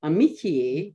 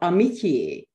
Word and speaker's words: amitié: The first syllable of amitié was fully nasalized in Renaissance French. It therefore sounds like soul.